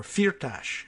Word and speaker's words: Firtash: He's just carrying messages back and forth, say, from Firtash, or Firtash, as he pronounces the last name.